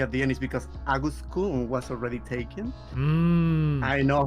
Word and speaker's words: Aguskun: Yes, and then it would be like Aguskun because the Japanese like suffix like in names like Agus-chan, Aguskun would be Aguskun. But I know it's difficult for English speakers, so they go like in like August pronunciation, like the month. So I'm okay with that too.